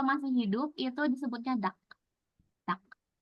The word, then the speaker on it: 닭: Duck. Nah, ini juga ada bacimnya 2, tapi kita sebutnya duck aja, duck. Bukan dark, bukan dal ya. Ini sebutnya duck.